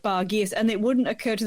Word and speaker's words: Bargearse: No, but you pronounce it with the, kind of like a French type thing, so Bar Gears, BARGEARSE.